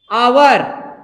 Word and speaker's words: hour: जैसे आप लिखते हो आवर, आवर मतलब HOUR, आवर मतलब घंटा, 1 घंटा 2 घंटा, होता है कि नहीं होता है, HOUR, इसको भी क्या पढ़ेंगे आवर।